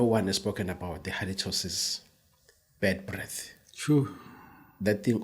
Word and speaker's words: halitosis: halito says h a I'm wondering why it is called halitosis because it's halitas halitas it is originally from Greek and this is a westernized and they convert it into halitosis it has nothing with